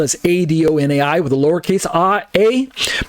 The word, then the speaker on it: Adonai: pronounced either as adonir Adonai on the right side it's Adonai a-d-o-n-a-i pronounced as Adon plus the word I like your eyeball I Adonai is a title